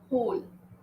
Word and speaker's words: whole: Whole, W is silent.